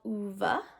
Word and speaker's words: Ove: They should read A Man Called Uva, I believe is the correct pronunciation. I tend to call it Ove in my head because that's how it looks like it should be spelled in the English language.